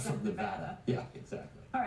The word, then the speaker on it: Nevada: Nevada is pronounced with the VAD rhining with bad.